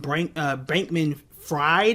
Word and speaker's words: Bankman-Fried: Basically, a guy known as SBF, Sam Bankman-Fried, I guess, or Freed, however it is you want to pronounce his name.